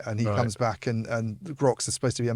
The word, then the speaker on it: Groq: And he mentioned a specific company when I spoke with him called Grok, which is GROQ, the way they right, spell it.